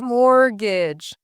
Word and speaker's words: mortgage: And they even pointed out the pronunciation that the T in mortgage is silent. A mortgage.